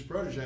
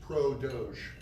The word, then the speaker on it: Prodoge: So anyways, Prodoge, what Prodoge is, and so the name of the company is Prodoge, or Prodoge, right? It's a play on words. And French pronunciation.